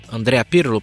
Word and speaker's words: Andrea Pirlo: Andrea Pirlo. Pronunciai.